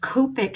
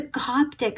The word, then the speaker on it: Coptic: like it um um i kept saying the word copic stitch copic when i was mispronouncing it it's the coptic stitch why was i calling